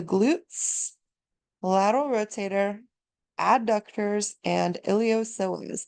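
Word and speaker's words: iliopsoas: lateral Rotator adductors and ilos the p is silent just like those IDs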